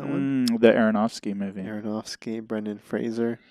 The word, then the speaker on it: Fraser: you seen that one the Aronofsky movie Brendan Fraser Fraser is how you pronounce his name is what I learned uh